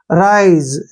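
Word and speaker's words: rise: आई हो गया और एस ई का उच्चारण यहां पर ज होगा ज ज ई हमने नहीं पढ़ना है राइज ऐसे पढ़ेंगे इसको राइज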